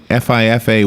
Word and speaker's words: FIFA: ever in Brazilian football history yeah FIFA it's FIFA is how you say it okay thank you